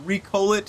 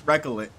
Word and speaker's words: Recolit: and found out that it's not recoit it's not recolite it's not recola it's recit um so I was saying it wrong the entire time but welcome back